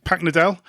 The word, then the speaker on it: Paknadel: us today we have Patton Adele have I said that right because I'm crap at saying no it's a lot of syllables but it's phonetic so it's nice and easy yeah but it's so